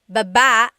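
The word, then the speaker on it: babâ: Then there's babba babba. Emphasis is on the second syllable syllable that means to go down.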